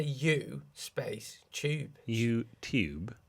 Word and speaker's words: YouTube: YouTube. YouTube. No, it's not tube. It's not. There's no CH in it.